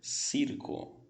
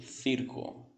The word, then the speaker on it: circo: Veja só como eu vou pronunciar no espanhol da América. Circo, circo. Em espanhol, uma região da Espanha seria circo, circo, ok? Essa é a diferença entre o espanhol da América do Sul e uma parte da Espanha que utiliza essa pronúncia um pouco diferenciada.